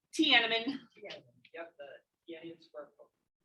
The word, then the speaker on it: Tiananmen: Tiananmen.